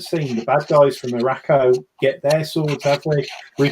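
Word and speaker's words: Arakko: Araco.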